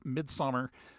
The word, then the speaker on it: Midsommar: he wrote and directed its mid-summer which is the proper Swedish pronunciation of mid-summer and um I watched